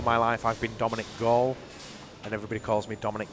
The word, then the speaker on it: Gall: For all my life I've been Dominic Gall and everybody calls me Dominic Gall, which I don't understand really, because Gall is spelled G-A-L-L, which is just like ball, B-A-L-L. So why would you say Gall?